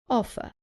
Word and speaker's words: offer: Offer. Remember that in British English, the R at the end is not pronounced.